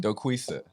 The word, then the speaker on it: Doquisa: how do you say your last name donnie dokusa donnie's in the house donnie is in the